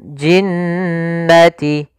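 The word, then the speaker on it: الْجِنَّةِ: Hati-hati dalam pelafalannya, jangan langsung dilepas, jangan jinnati wan nas, enggak, tapi tahan dulu dua harakat ya gunnahnya. Minal jinnati, ya, baru dilepas. Minal jinnati wan nas.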